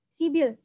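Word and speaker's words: 십일: Kalau kita bacanya persuku kata dibaca sip il, tetapi kan biasanya orang Korea itu bacanya disambung gitu ya, diseret. Jadi bacanya sibil. Sip il dibaca sibil.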